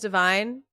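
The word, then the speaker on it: Devine: My name is Divine and no one ever pronounces it right. Really? Like the word divine and it's spelled like divine except for it's with an E and people don't pronounce it right.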